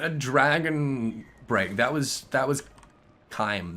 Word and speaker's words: CHIM: That was Chime. That was using Chime or Chim, as most people refer to it. But I'm pretty sure it's pronounced Chime, like Chimer or Chimera or Chitin, right?